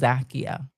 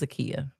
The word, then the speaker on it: Zakiya: She does pronounce my name wrong. She says Zakia. My name is Zakiya, but all AI struggle with that.